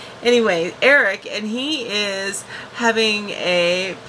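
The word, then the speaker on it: Airk: Then they also cut to their son, who is Eric, and I love the spelling of Eric. It's spelled A-I-R-K. Love that spelling. Anyway, Eric, and he is having a picnic.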